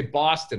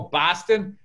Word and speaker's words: Boston: miss that boston because i'll say where you're from i'll say boston and they go oh boston and i'm like did i say it like that it's b a w like bar like saw that that is my life's